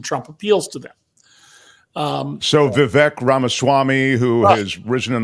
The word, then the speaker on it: Vivek: The other gentleman whose last name I sadly haven't learned how to pronounce. Yeah, Vivek. Just say Vivek.